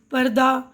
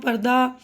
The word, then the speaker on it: پردہ: ان لفظوں کا آخری حرف ہا ہے. آخری حرف تو ہا ہے نا، لیکن اکثر ان کے تلفظ کے آخر میں آ کی آواز سنائی دیتی ہے، یعنی پروانہ، پردہ، مدرسہ، درجہ، ہفتہ، ٹھیک ہے نا. یہاں ہا کی آواز پوری طرح ادا نہیں کی جاتی.